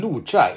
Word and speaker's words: 鹿柴: is just a name chai is usually pronounced as chai but here it should be pronounced as cha it means some fenced encirclement and lucha is actually the name